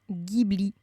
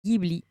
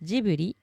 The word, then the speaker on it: Ghibli: bien Gibli prononcé Guy le nom de cet avion d'ailleurs provient un mot libanais et là aussi dans la langue libanaise on le prononce Gibli donc même s'il a été importé au Japon et que l'écriture japonaise se prononce jbuli on a bien affaire à un nom d'origine libanaise qui se prononce en réalité gihibli d'ailleurs quand la traduction